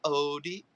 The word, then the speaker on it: Odette: Odette's an easy one. Odette. That's it.